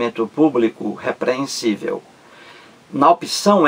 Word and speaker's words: público: a palavra público aí ela é proparoxítona três sílabas público público público três sílabas a sílaba mais forte é a antepenúltima qual é a sílaba